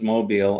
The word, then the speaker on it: Mobile: Mobile. All right, so there's Mobile.